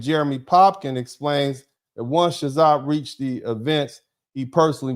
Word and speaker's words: Chazotte: Chazot, and that's spelled Chazotte. I'm not going to try to pronounce it like I'm French. I'm going to pronounce it like an American. Chazot. Maybe Chazé, I don't care.